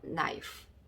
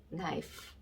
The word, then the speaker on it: knife: 그래서 I 밑에 I 적어주시고 F 밑에는 피읍자 적어주시고 계속 말씀드리다시피 끝에 있는 E는 소리가 안 난다. 자, 그래서 발음을 조합을 해보면 knife, knife 이렇게 되겠습니다.